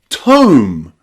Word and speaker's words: tome: But if we add E on the end, it changes to tome.